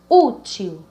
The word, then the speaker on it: útil: A palavra útil. Útil, repita sempre. Útil. Então, a sílaba tônica seria qual? Vamos começar do final da palavra. Tio, u. Então, o u, ele é o mais forte, por isso que é uma palavra paroxítona.